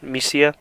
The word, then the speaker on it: MISIA: So yeah, it feels like it's Misa, I believe that's Misia is how you say it.